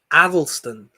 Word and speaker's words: Athelstan: And how you pronounce his name? Athelstan.